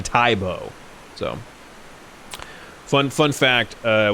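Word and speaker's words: Tae Bo: uh you know egocentric so he changed the pronunciation to uh to tai bo so fun fun fact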